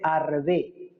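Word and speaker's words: ארבה: Se dice arbe.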